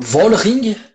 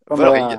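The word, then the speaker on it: Vollering: Alors, dis-moi le nom, comment tu le prononces toi? Parce que j'ai eu deux versions chez les Suisses. Volring, J'ai Volring. Volring.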